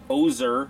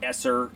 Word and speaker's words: Oeser: Again, thanks, Matthew Oeser, not Esser, Easer, Oeser, all the other things I pronounced, for letting us take a look at this.